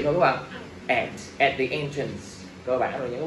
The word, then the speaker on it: entrance: Entrance, nhắn vào thứ nhất. Không đọc entrance nữa nha.